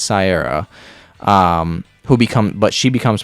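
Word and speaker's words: Caiera: i'm gonna be honest i'm not really entirely sure how to pronounce that c-a-i-e-r-a i think it's sierra who become but she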